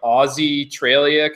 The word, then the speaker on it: AuZtralia: This one is called AuZtralia, but it's like spelled with a Z, so like AuZtralia, kind of like AuZtralia.